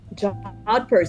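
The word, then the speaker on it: jodhpurs: Jodpur. Jodpers. That's how you say it.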